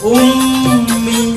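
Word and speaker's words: أمي: Ummi begitu. Kenapa? Karena di sini gunnah harus dengung yang sampai ke haisum. Haisum itu sini, batas akhir daripada hidung. Sehingga dibaca ummi, nggak boleh umi begitu, harus dengung dulu.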